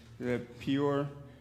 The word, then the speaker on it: Peor: When Israel was camped at, how you say it, Peor? Peor? Okay. Peor, the people were enticed to worship Baal and sacrifice and ritual fornication.